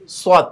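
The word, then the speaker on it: ص: গিয়ে আমাদের জিহবাটাও লাগাবো আওয়াজটাকে একটু মোটা করব সদ জবর সদ সদ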